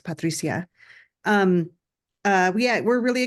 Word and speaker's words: Patricia: I'm sorry yes and I use the Spanish pronunciation of my name it's Patricia um uh yeah we're